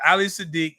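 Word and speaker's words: Ali Siddiq: one, Father's Day, and a comedian, was it Ali Sadiq? Am I saying it right, Miles? Yeah. Ali Sadiq has this great joke.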